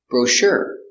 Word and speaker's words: brochure: your dining room pronunciation brochure bro sure soft sound sure Accent on a second syllable brochure I haven't read